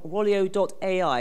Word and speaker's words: Rolio.ai: Now, Jake is the CEO of Rolio.ai. Is that the correct pronunciation?